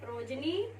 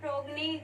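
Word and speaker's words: progeny: ठीक है, ये है प्रोजनी, कुछ बच्चे इसे प्रोगनी कंसेप्ट प्रोनाउंस करते हैं।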